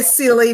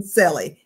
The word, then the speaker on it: Selly: Some people say silly, but we settle on Selly.